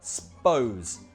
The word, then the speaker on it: suppose: The U, we usually drop it. Sounds more like s'pose.